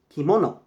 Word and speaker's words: kimono: is actually the the nice word which is pronounced kimono in Japanese en espanol it borrowed kimono same